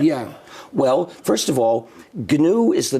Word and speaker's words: GNU: well any government yeah well first of all G is the name of the operating system I started in 1983 it's pronounced G Linux is a kernel it's one